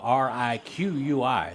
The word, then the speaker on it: Riqui: Ricky Butler, his name on the roster is spelled R-I-Q-U-I. So, Riqui, I would say.